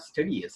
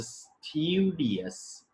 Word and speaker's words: studious: a study yes studies it is not steadiest it is a studious studious is the exact pronunciation of this word the next word now